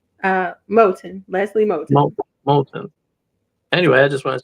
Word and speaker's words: Motto: you say your last name uh molon Leslie molon molon anyway I just want to say thank